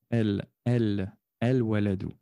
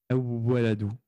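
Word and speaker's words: الولد: El-Waladou. Ce qui signifie qu'on va bien prononcer le lem. Et on n'a pas de shadda sur le wawo. Donc, nous dirons el-waladou et pas awwaladou. Awwaladou.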